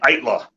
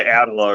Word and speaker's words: Eitla: Hey, I'm from the band Eitla. That's how you pronounce it. I was Yeah. so worried I was going to say it wrong. You're probably going to say Adela or something.